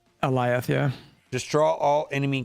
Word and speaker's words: Alioth: Aeoli list? Alioth, yeah.